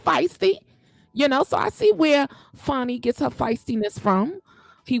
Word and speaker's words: Fani: I guess this was the person that Fani, I was saying Fanny, but I guess it's Fani Willis.